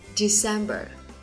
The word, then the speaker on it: December: 4 tháng cuối năm thì đều tuân theo quy luật là có 3 âm tiết và trọng âm nhấn vào âm tiết số 2 nhé.